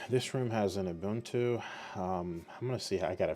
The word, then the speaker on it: Ubuntu: All right, this room has an Ubuntu. I'm gonna see. I gotta figure out how to pronounce this.